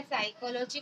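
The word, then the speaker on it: psychology: P silent होता है, यानी कि कभी भी आप निमोनिया लिखें या शाम या साइकोलॉजी कभी भी पढ़ें तो हमेशा पी को ना पढ़ें। तो ये 3 ऐसी वर्ड मीनिंग है जहां पर आपको पी को नहीं पढ़ना है।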